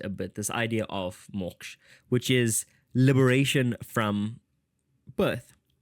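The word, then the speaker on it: मोक्ष: And moksha. Okay, I know a few of you pronounce this word as moksha. I've heard moksh, the word moksh, when I was in Varanasi.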